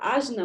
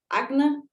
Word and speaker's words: Ajna: Você pode falar Ajna, mas é Agna, a pronúncia em sânscrito, Divina Padma, Guru Madma,